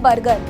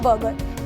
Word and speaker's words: burger: आप लोग बोलोगे मैम बर्गर, ये गलत है, इसे हम बोलते हैं बर्गर। इसमें R हो जाता है साइलेंट क्योंकि ये U के बाद आया है।